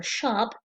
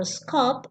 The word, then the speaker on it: scop: from one minstrel or shop to another. This means that initially the story described told in Beowulf was memorized by minstrels or shops. Shop or scop, both pronunciations are okay, these are the names given to minstrels or bards.